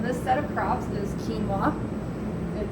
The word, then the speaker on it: quinoa: set of crops is quinoa you know it looks different than how it's pronounced ours is nothing so